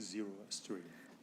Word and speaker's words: Zoroastrian: Zoroastrian. What? Zoroastrian.